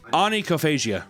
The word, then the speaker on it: onychophagia: Onychophagia.